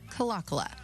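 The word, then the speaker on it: Kalakala: Broadcasters back in the day said it another way. Now most folks pronounce it calakula.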